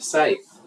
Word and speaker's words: scythe: using the second primary method the sky SK Scythe the pronunciation is odd but sides are tools used